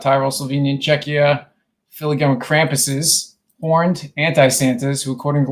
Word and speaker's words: Krampus: On December 5th, the streets of Austria, Bavaria, South Tyro, Slovenia, and Czecha, filigum Krampuses, horned anti-santaas who, according to legend, punish misbehaving children. The Krampus run is loud, eerie, and incredibly atmospheric.